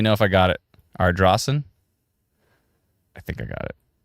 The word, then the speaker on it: Ardrossan: Ardrossan. How come it's spelled S-A-N, but it's pronounced S-O-N? Why? Why do they do this to me? Ardrossan.